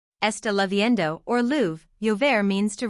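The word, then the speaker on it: lloviendo: Esta leavendo or lou. Yo means to rain. The double LL is pronounced like a Y in most dialects.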